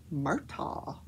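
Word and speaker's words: Murdaugh: murtaugh family and in south carolina that is pronounced murtaugh so the murtaugh family i mean they're like the kennedys of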